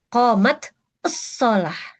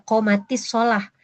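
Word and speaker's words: قامت الصلاة: Qomat usalah ini kan sukun didahuluinya karena tasydid itu ya sukun ya. Ini sukun. Nah, kalau sukun ketemu sukun ya rumusnya sukun yang pertama kasrahin maka dibaca qomatisah.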